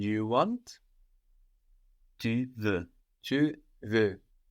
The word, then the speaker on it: veux: Now both of these veux are actually spelled V-E-U-X. We have an X on the end. But we don't hear this X because French doesn't tend to pronounce the consonants written on the ends of words.